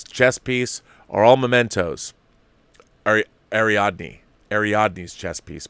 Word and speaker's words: Ariadne: are all mementos ari Ariadne ariadne's chess piece pardon me I've been saying her name wrong this whole article ariadne's chess piece are